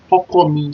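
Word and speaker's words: Ọkọ mi: Hokomi spells like O-K-O-M-I.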